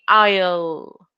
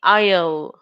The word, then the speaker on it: aisle: word remember this word it has an S in the middle but when you pronounce this word the S is silent right so the pronunciation will be aisle and if the final